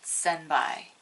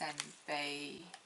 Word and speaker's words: senpai: spicy mini heart sunbae i know how it's spelled but i've always said senbai which is clearly wrong because it's senpai so anyway they're spicy